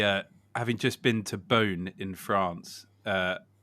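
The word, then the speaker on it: Beaune: having just been to bone in France uh couldn't be more of an English pronunciation bone B uh but um Wine's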